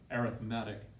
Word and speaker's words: arithmetic: there's something oh they they put the accent on the t on that syllable arithmetic mean if you say arithmetic that's a noun arithmetic is the absolutist